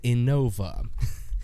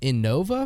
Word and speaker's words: Innova: Unironically unironically glad Trevor didn't take it mine is Innova. That's so funny. That's actually I would spell it I would put Innova and then in parentheses pronounced i n o h all caps v a.